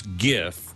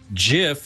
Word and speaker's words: GIF: it'd be a harji so GI can be pronounced both ways yep so there English isn't any help there I guess I would I would choose GIF because Jif reminds me of peanut peanut butter I agree and GIF it's like a gift yes exactly it's a